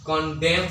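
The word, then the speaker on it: condemn: एम के बाद आने वाले एन को नहीं पढ़ना है, यह एक रूल है, स्पेलिंग रूल के अंतर्गत आता है कि इफ N comes after M एट the last part of a word N should not be pronounced. तो आप एन को नहीं पढ़ेंगे, कॉन्डेम पढ़ेंगे, और इसे भी आप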